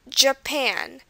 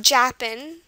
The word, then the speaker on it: Japan: okay the next one Japan it's not Japan which is what it might look like but it's Japan and you can tell it stresses on the Pan part of it next country